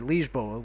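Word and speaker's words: Lisboa: Shuka it's also a pun on the word liegeboa which is how you say Lisbon in Portuguese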